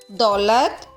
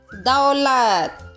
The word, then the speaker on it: दौलत: बच्चों ये शब्द भी आजकल बोलचाल की भाषा में इस तरह बोले जाते हैं। पौधा, दौलत, तौलिया, जो कि सही उच्चारण नहीं है। इसका सही उच्चारण कैसा है? पौधा, दौलत, तौलिया, चौकीदार, नौकरानी और बिछौना।